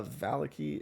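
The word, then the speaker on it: Vallaki: v-a-l-l oh i have this written somewhere uh valiky is uh v-a-l-l-a-k-i and he's disguised as a man named richtavio you can spell that however uh yeah rick tavio r-i-c-t-a-v-i-o all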